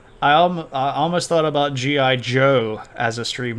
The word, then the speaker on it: Zhou: his vassals is the Joe clan um which is the sort of main topic of tonight and it's spelled like this when we transliterate it into English but it's pronounced Joe um and the Jan